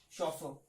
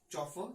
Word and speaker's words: chauffeur: Alright, the next one is chauffeur. Guys, we don't pronounce it as chauffeur, it is pronounced as chauffeur.